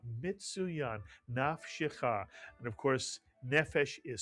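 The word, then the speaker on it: נַפְשְׁךָ: The first syllable would be pronounced naf, mitsuyan. And the second syllable would be pronounced shecha, mitsuyan, shecha. Put the word together, nafshecha, mitsuyan, nafshecha.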